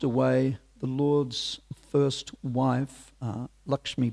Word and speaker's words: Lakshmi: But sadly, whilst away, the Lord's first wife, Lakshmi Priya, or Lucky Priya, if you speak Bengali pronunciation, passed away due to intense separation from her husband.